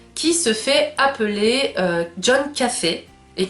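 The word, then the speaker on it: Coffey: Un homme très grand, très imposant, qui se fait appeler John Café. Et qui se dit que ça se prononce comme le café, mais pas écrit pareil.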